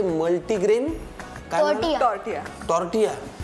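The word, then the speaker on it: tortilla: ए रे नाही आय so Mexican लोक किंवा स्पॅनिश भाषेमध्ये ल चा उच्चार य होतो म्हणजे टॉर्टियाचं स्पेलिंग ऍक्च्युअली टॉर्टिला आहे आपण जर वाचलं तर ते टॉर्टिलाच वाचणार किंवा किसेला असं स्पेलिंग होतं ते आपण पण ते बोलताना किसे होतं अच्छा टॉर्टिला असं स्पेलिंग आहे पण नाव आहे टॉर्टिया हलकेसे भाजून घेऊया हं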